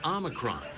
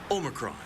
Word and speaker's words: Omicron: However, the restaurant pronounces it Omicron, not like the variant, which can also be pronounced Omicron.